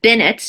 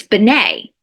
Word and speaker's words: Benet: The Bennetts, she went by Bennett, Marianne Bennett, but the way it's spelled, it's Benet, like Jean Benet, like the little girl, Benet.